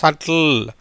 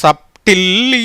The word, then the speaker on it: subtle: அதனால் எப்படி வருது? சட்டில், நாட் சப்டில்லி இல்லை, சப்டிலி இல்லை, சட்டில். சட்டில் என்ற உச்சரிப்பில் வருது.